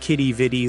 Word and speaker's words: Quidi Vidi: The name's origin is debated, with theories linking it to French planters or meaning "what a beautiful sight," though pronounced Quidi Vidi locally.